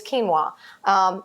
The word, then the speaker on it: quinoa: Some of my favorites are the ones that are made from quinoa, and that's spelled Quinoa. I know, you're probably looking at that all the time and saying, how do you say that? It's quinoa.